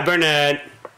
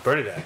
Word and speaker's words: Bernadette: Hi, Burnett. Bernadette. Bernadette. Oh, it's Bernadette. It is Bernadette.